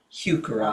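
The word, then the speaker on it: Heuchera: you spell that it's h e u c h e r a hukura oh okay v i l l osa that's are native.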